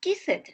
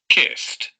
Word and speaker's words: kissed: s or double s you don't pronounce kiset no no no the pronunciation is listened kissed kissed kissed sounds like a t when the last sound